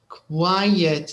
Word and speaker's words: quiet: English quite means fairly quiet is two syllables okay maybe are